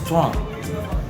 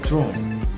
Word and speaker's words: throne: Because the word throne, when our common people pronounce it as strong, not throne. Why? Because the vowel at the end of the word is being silenced by them and replaced by the G.